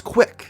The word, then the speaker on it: CWC: CWC are the initials of Christian's full name, which he is unusually proud of due to its ability to be pronounced as Quick.